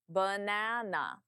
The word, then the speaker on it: banana: Banana. Using the correct syllable stress will instantly make you sound more natural.